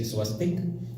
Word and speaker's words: swastik: When I refer to the Hindu swastik, I will say swastik, and when I refer to the Hakan crows, I will call it swastika.